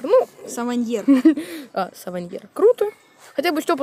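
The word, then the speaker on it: Savanier: Савайнер. Ну. Саваньер. Саваньер. Круто. Хотя бы Степа знает, как правильно произносить.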